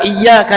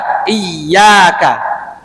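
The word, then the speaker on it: إِيَّاكَ: Maka yang benar adalah iya. iyyaka. Dan ka-nya enggak boleh iyyaka enggak. Itu akan merubah makna lagi. Oh, tadi dikatakan boleh jadi aku menyembah matahari. Ya. Jadi itu bacanya iyyaka na'budu wa iyyaka. Bukan iyyaka na'budu atau iyyaka na'budu atau iyyaka na'budu, enggak. Ya. Maka itu harus ditalaki, ya. Ya, jadi tidak dipanjangkan iyyaka atau iyyaka, enggak.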